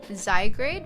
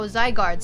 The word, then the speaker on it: Zygarde: Zygrade. What's that? Oh, they're from they're a dragon type. Oh, Zygarde. Sorry, I pronounced it wrong.